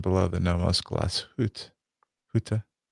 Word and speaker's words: Glashütte: Huta. Excellent pronunciation. No, that's good. No, that's good. That's way better than Glashütte. So Glashütte. they're proud of the New York underneath the Yeah, glass huta.